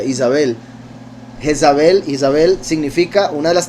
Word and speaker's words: Jezabel: Recuerden que Jezabel, cuyo nombre en realidad se pronuncia Isabel, Isabel significa, una de